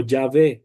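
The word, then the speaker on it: Yahweh: Pero mi convicción es que el nombre correcto que debería de pronunciarse es Yahweeh. Yahwe o Yahve, como lo pronuncian en algunas traducciones modernas, en lugar de la W, usar una V, que es básicamente lo mismo.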